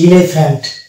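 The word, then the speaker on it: elephant: তারপরে চলে যাবো, এটা হচ্ছে ইলেফ্যান্ট। এই যে এখানে পিএইচ দেখতে পাচ্ছি, তাহলে পিএইচ হয়ে যাবে ফ, তাহলে হচ্ছে ইলেফ্যান্ট।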